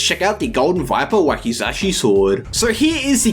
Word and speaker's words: wakizashi: super pretty on the wakazashi sword and funny thing is i keep feeling like i pronounce wakazashi's super wrong dude like if you actually look at the spelling it's wakizashi no wakazashi and i say wakazashi a